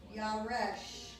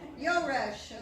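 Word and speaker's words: יורש: Yaresh. Yeah. No, this is yo. No, it's Yo. Oh, I'm sorry, I was on the other one. Yoresh, okay.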